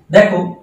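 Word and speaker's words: though: যেমন দো অল দো, দেখো দো এইখানে এইটুকু জিএইচ, এর কোনো উচ্চারণ নেই।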